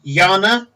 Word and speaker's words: Jana: a pure lifestyle in her name was Yana spelt with a J so J a and Yana and second surname